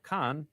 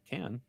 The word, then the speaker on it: Cannes: As far as film festivals with hard-to-pronounce names and words go, Cannes, or Cannes, is the most prestigious.